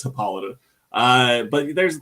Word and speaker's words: Hippolyta: and and just whatever because uh I know it's spelled like hippo litter or whatever but I know I know it's hippolyta uh but there's like